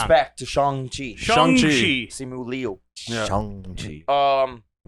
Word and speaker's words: Shang-Chi: Respect to Shang-Chi.